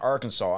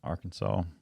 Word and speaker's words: Arkansas: Arkansas. That S is silent, correct? Yes, that S is silent.